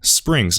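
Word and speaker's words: Xpring: Almost all Springs, and I'm pronouncing it Spring, that's the correct pronunciation, it doesn't really matter.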